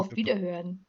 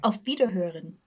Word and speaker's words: Auf Wiederhören: Auf Wiederhören. Avita. It sounded like Velveeta, but okay, that was okay. I'm sorry. How, Okay. how do you say it again in German? Goodbye. Auf Wiederhören.